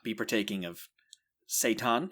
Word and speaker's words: seitan: So people with celiacs would not be partaking of seitan. Is that how it's said? Yes, it is. Right, okay. I think it might be pronounced Satan, but that's a different. All right, marketing I was problem.